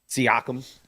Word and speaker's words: Siakam: Siakam.